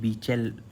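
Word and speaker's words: Beachell: जो IR8 है ना, तो इसके फादर कौन है, तो उनका नाम है HM इसका प्रोनाउंस है बीचेल, मैं तो यही पता, HM बीचेल, ठीक है।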